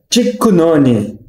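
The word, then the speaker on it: キックの鬼: Mas em japonês, a pronúncia é Tikkunoni, que pronunciando separado seria Tikku no Oni.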